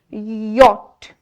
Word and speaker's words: yacht: different letters but we are not going to pronounce the letter C in it. Instead we are going to say yacht. Yacht.